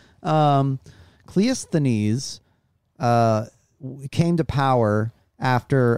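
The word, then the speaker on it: Cleisthenes: no this is bce uh so cleous denise can you spell that clint econese for me c-l-e-i-s-t-h-e-n-e-s kind of a classic ancient greek name um cliousthanes uh came to power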